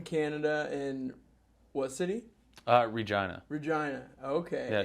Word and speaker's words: Regina: and what city uh Regina Regina okay it should be called Regina but you know that's how they say it and you've made like